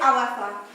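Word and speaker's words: Ahoefa: Well, actually, it's Awefa, and it's pronounced A-H-O-E-F-A.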